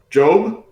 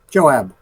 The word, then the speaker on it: Joab: We got our players here, Grim Gem and Job. Is that how it's pronounced? Joab. Joab, okay. And yeah, why don't we start by you guys introducing your characters.